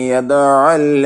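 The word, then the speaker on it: يَدُعُّ: ആറാമത്തത്, ഫദാലികല്ലദീ യദ്ഉൽ യതീം. മാഊൻ സൂറത്തിലെ ഒരു ആയത്താണ്. ഇവിടെ നോക്കൂ, യദ്ഉ എന്നതിൽ ദാലിന്റെ ലൊമ്മും യദ്ഉ യദു എന്ന ലാലിന്റെ ലൊമ്മും ഷദ്ദുള്ള ഐനിന്റെ ഉച്ചാരണം ശ്രദ്ധിക്കണം. ഫദാലികല്ലദീ യദ്ഉ. യദ്ഉ ദാലിന് ലൊമ്മ വേണം, ഐനിന് ഷദ്ദും കൊടുക്കണം.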